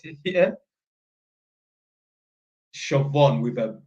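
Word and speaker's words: Siobhan: was SE or something come to find out it's Irish for shobon how the do you get like if you know how to spell shaon yeah that is phonetically that's not how you would spell it yeah shobon with a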